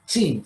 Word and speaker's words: Qin: Vemos al principio la palabra Qin, Qin se pronuncia.